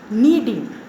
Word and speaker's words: kneading: Next, kneading, K is silent here, K-N-E-A-D-I-N-G, kneading.